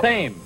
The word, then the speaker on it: Thames: And the river that flows past the Houses of Parliament in London, it's pronounced the Thames, of course.